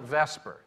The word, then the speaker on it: VSEPR: because chemists reverse these they call it Vesper because the VNS is kind of hard to pronounce unless you have Slavic blood so it's called Vesper and that is the